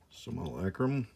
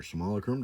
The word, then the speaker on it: Simulacrum: Okay, so we got 30th Anniversary Lightning Bolt, Spell Blast, Wall of Water, Soul Net, Simulacrum, or Simulacrum, depending on how you say it, and Will-o'-the-Wisp for yet another disappointing rare, and Island Sanctuary, another treasure token.